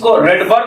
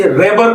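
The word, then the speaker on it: Rydberg: कुछ लोग इसे रिडबर्ग भी कहते हैं। लेकिन अगर इसका सही उच्चारण किया जाए तो इसे राइडबर्ग कहा जाता है।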